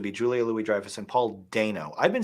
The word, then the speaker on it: Dano: Paul I say Dano? Paul Dano, but it's Paul Dano. Dano? You said they said Dano. There's 3 pronunciations. Yeah, I've always said Dano. When in doubt, go with the long A.